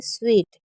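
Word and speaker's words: suite: उसके बाद है स्वीट इसको हम स्वीट पढ़ते हैं क्योंकि इसमें जो हमारा एस यूआईटी है इसको अलग ही साउंड किया जा रहा है तो आप इसे लिख सकते हैं ताकि आप इसे गलत ना पढ़े क्योंकि इसमें आप रूल्स के अकॉर्डिंग पढ़ के भी गलत ही पढ़ेंगे स्वीट का मतलब होता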